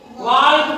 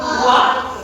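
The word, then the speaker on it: walk: ఏఎల్కే చివర ఏఎల్కే వస్తే L silent అవుతుంది. వాల్క్ కాదు, ఏంటిది? వాక్.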